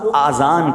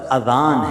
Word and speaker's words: اذان: نیکیاں کما سکتے ہیں۔ بعض لوگ آذان کہتے ہیں، یاد رہے پہلے اذان کہتے کس طرح ہے، اس کا تلفظ سے بچ لیں۔ آذان اذن کی جمع ہے، اذن کہتے کان کو، یہ آذان نہیں ہے، یہ لفظ اذان ہے، ٹھیک ہے؟